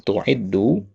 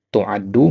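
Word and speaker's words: تُعَدُّ: Kalau antum mengatakan tu'iddu ya, dia menjadi ada fa'ilnya berarti. Di sini nggak ada fa'ilnya. Siapa yang tu'iddu? Nah, harus ada orangnya. Tu'iddu ya, fulanah misalkan ya. Nah, di sini dia bacanya tu'addu mabni lil majhul.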